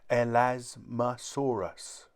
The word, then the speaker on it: Elasmosaurus: are like flat plates how do you say it elasmosaurus say el asmasaurus in the air flying